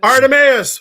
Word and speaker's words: Artemaeus: right because as soon as I read it, the Amadeus song came to my head.